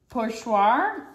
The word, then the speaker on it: pochoir: Today we're going to go over the technique of pochoir, which is a French word meaning stencil. It's spelled P-O-R-C-H-O-I-R.